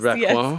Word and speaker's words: Raquin: Let me see if I can get this right. Raquin? Very close. Raquin? Yes.